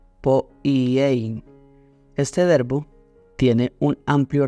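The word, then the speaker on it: ποιεῖ: hacer en Santiago 4:17 es poiei, creo que se pronuncia. Es la palabra, se la deletreo por si quiere tomar nota y luego buscarla, es P-O-I latina E-I latina N, poiei.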